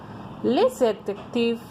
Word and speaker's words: les adjectifs: How we pronounce in French? Les adjectifs.